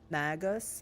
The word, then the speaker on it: Magos: is believe it's pronounced magos magos magos magos I feel like they say Gus instead of ghost but then I can't